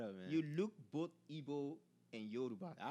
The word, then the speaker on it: Igbo: Igbo.